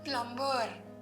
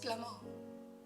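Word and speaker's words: plumber: water र इ silent it इज नॉट प्लबर इट इ प्लमर okay ब इ साइलेंट ओके फ्रॉम फोनिक्स व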